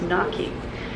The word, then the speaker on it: gnocchi: I wanna say gnocchi, that's how I feel like I wanna say gnocchi soup, but I Googled it because I didn't wanna say it wrong and it's gnocchi.